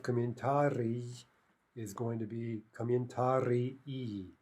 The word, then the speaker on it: комментарии: Now note the spelling difference there, right? The singular ending e, that's one syllable, but the plural is ee, right? So if we say it very clearly, we get two distinct syllables.